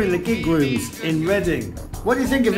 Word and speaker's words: Reading: can when I'm when I'm in Reading pronounced reading I always go to